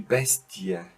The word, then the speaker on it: Bestie: all of them, but many of them are pronounced simply separated. And those words are, for example, die Familie, die Lilie, die Studie, die Bestie. So you don't make a long E, you pronounce it separated.